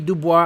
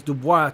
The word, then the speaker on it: Du Bois: Du Bois out there, or Du Bois, however you pronounce it. It's a French name. It's Du Bois, I remember.